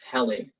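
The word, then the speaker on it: Helle: onto the sea oh this is heli heli that's how you pronounce it song um i guess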